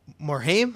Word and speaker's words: Morhaime: Recently, they got a chance to talk to their president, Blizzard's president, a gosh, Mike Morhaime, I think is how you say his name, Mike Yeah.